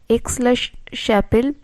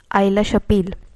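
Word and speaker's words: Aix-la-Chapelle: 1744 থেকে 1748 খ্রিস্টাব্দ পর্যন্ত এই যুদ্ধ চলে এবং এই যুদ্ধ শেষ হয় এক্স-লা-শ্যাপেল সন্ধির দ্বারা, যেটার আসল উচ্চারণ হচ্ছে আইলা-শাপিল, যেটা হয় 1748 খ্রিস্টাব্দে।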